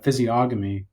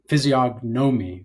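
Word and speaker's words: physiognomy: And you can just tell by his uh physioamy, which anybody that doesn't know what physioamy is uh physomi, sorry, because it's pronounced that way.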